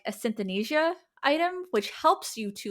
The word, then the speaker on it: synesthesia: And one item is like a synesthesia item, which helps you to like feel and like see, like sense colors and things of that nature. Synesthesia.